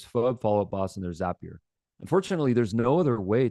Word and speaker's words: Zapier: It's it's pronounced Zapier, not Zapier. We know that because the founder told us it's Zapier like happier.